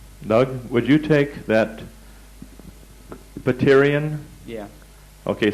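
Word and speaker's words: pterion: everything imaginable there Doug would you take that butterian yeah okay spell that uh p-t-e-r-i-o-n that's on your checklist now the paterian here has one unique quality on this particular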